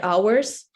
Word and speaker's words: hour: um can count the hours so when we finish everyone knows the word hour and pronounces it correctly without age and if for your